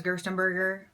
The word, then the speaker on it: Gerstenberger: Because if you don't know, my last name is Gerstenberger, but it's B-E-R-G-E-R, but it's pronounced burger, not B-U-R-G-E-R though.